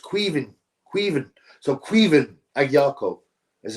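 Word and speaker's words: Caoimhin: Apparently it's pronounced queeven.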